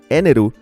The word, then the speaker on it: Enel: En el presente, Enel es usuario de esa fruta, y su nombre pronunciado en japonés, Eneru, es un juego de palabras de energy, energía en español.